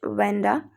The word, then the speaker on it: Wanda: उसका आप शायद कुछ और नाम से भी प्रोनाउंस करते होंगे आप शायद, बट we will consider here it वेंडा।